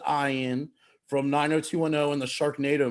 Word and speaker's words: Ian: the 90s ian zering it is spelled ian but he pronounces it i in from 90210 in the